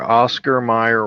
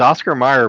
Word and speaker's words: Oscar Mayer: two letters off it's Oscar Mayer but it should be pronounced more like John Mayer it's somebody typed it